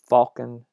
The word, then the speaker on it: falcon: Falcon, I think most Americans say the L in falcon, but when it was originally borrowed from French, that L was not written, but it was from a Latin word, and so the L was reinserted in the spelling there. Similarly, the T in mortgage